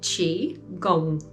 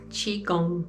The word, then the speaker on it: Qigong: So we pronounce it Qigong, Qigong.